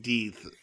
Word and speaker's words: Death: My comparison was to Revolution's when they do Death by Charity. I think it's pronounced. I know it's pronounced Deeth, but I can't say that, man. I can't say Deeth.